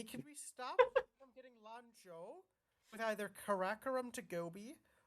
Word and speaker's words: Lanzhou: oh sweet, thanks for Lan Zhao. Yeah, Landau. Lanzhou. It's Lanzhou. Gotta carry on the tradition of mispronouncing everything. Yeah.